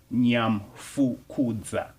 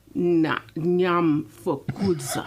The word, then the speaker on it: Nyamfukudza: Oh, so it's like one syllable. That first part is... It's like, say it one more time. Nyamfukudza. Nyamfukudza. There you go. Easier than you thought. Nyamfukudza. There you go. The key is watching the lips and how their mouth forms around the like words. Nam. I thought of like Vietnam, like the pronunciation.